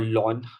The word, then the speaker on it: ln: that has base e we call this ln or lawn uh these are two different ways of you know representing this or pronouncing this ln or lawn log with base e.